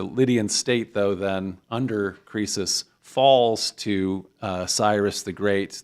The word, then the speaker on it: Croesus: It was Kreso for us. Was that it? I think it's Croesus in Greek.